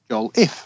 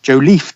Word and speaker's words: Jolliffe: All the best, Ian Jolliffe, pronounced Joel-if rather than the cool French-sounding Joliffe twist you put on it.